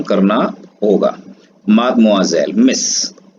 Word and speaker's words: Mademoiselle: अगला वर्ड आता है आपका मादमोआजेल, MADEMOISELLE, मादमोआजेल। प्रोनाउंसिएशन इसका जो है यहां लिख देते हैं, इसका मीनिंग होता है मिस या कोई अनमैरिड लेडी।